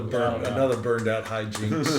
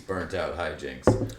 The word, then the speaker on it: Burnt Out Hijinks: He just said the name wrong of the podcast. It's Zach and JP's Burnt Out Hijinks. Hey, you nailed it that first time.